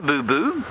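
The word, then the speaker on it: boubou: u l bull bull there is a boo boo but that's spelled b o u b o u so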